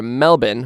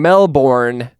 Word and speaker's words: Melbourne: to Melbourne which is the Australian way of saying Melbourne um I see what you did there yeah you like that that's that's how we Americans say it Melbourne well it's the it's the correct way of saying it we're just lazy and we shorten everything to Melbourne if your name's